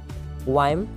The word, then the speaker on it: Wium: मैं इसका spelling read out करता हूँ HAKON हॉकन वायम WIUM लाय LIE, ठीक है। हॉकिम वायम लाय, हॉकिम वियम लाय, जो भी आप कहो वायम वैसे इसका सही प्रोनाउंसिएशन है, ठीक है।